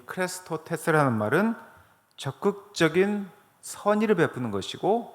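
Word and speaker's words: χρηστότης: 오늘 여러분들이 보신 갈라디아서 5장 22절에 나와 있는 이 자비라고 하는 단어는 헬라어로 크레스토테스라고 합니다. 같이 한번 읽어볼까요? 시작. 크레스토테스.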